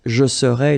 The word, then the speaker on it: je serais: to translate directly this je serais, it's I would be, okay? But then in French we've got only one form like that. Remember, so A-I-S, but then you don't pronounce the final S.